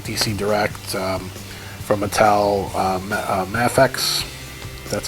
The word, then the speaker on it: Mafex: our way from like DC Direct, from Mattel, Mafex.